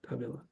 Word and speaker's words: Dávila: Dávila. Yeah. There's usually an accent over the first A in Dávila, but it's often forgotten.